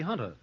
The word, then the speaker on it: junta: Well, it says the Junta, and I think that's pronounced Junta, but I think it ought to be Hunter.